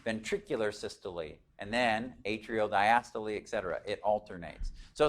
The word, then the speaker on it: diastole: for you systole and diastole when you look at those it's like looks like cysto and diastole but it's diastole you pronounce the e you should have a